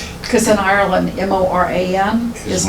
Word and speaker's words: Moran: to, they told her she was pronouncing her name wrong. Because in Ireland, M-O-R-A-N is Moran.